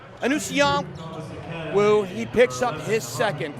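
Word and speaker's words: Anusion Wu: shot Dominic beg you beg your pardon it's anong woo he picks up his second very quickly a Newan wo is spelled a n u s i o n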